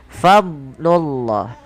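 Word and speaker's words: فضل الله: Jangan sampai huruf dnya terpantulkan. Contoh falaula fadlullah. Fadlullah. Ini sering terjadi memantulkan huruf dad. Padahal huruf dad itu bukan huruf yang mantul tapi fadlullah.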